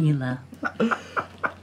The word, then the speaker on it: Nila: was who's nila nila you had it right the first time nailed it I am Neela it is nice to